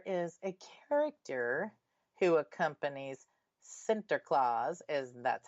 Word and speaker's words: Sinterklaas: There is a character who accompanies Sinterklaas, as that's how it's said in the Netherlands, and his name is Peter.